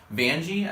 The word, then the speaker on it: Vanjie: Vanjie, I think is like it's like rhymes with Banji.